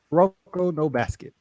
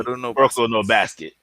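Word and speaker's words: Kuroko no Basket: And honestly, I don't think anybody would argue with Kano. God damn it, I always get the name wrong. Say it for me, Steve. Rocco no basket. Thank you. Rocco no basket.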